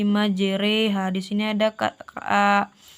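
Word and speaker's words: مجراها: surat hud ayat 21 yaitu pada lafazh majreha di sini tertulis majroha kita memiringkan bacanya menjadi majreha di sini ada Kak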